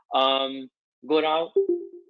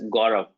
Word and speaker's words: Gaurav: Go Rao, is this your name, or your name is to be pronounced as Gaurav? You are pronouncing very correctly.